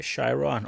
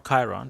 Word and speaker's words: Chiron: I have the Bugatti Chiron or Chiron depending on your pronunciation it can be both this is the 2018